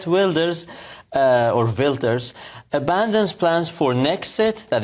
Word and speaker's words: Wilders: Exchange in the Netherlands K wers uh or vilters abandons plans for nexit that is the ex